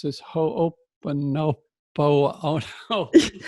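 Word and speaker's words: hoʻoponopono: how to pronounce this, ho'oponopono. Oh, no. You almost got it. It's ho'oponopono. Ho'oponopono. Yeah, I'm not sure I'm going to make it my life's goal to get it.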